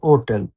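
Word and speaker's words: hotel: জি আঘাত তি ও গাত বিড়াল আক্ষা আক্ষাতে ওটেল আক্ষা ওটি ওট এ এল এ এল ওটেল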